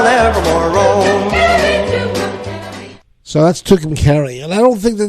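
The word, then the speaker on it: Tucumcari: carry then I'll never more roll so that's tukum Cary and I don't think that there was a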